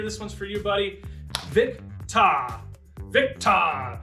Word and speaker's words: Victor: Victa. Victa. Say it like you're a thespian. Victa.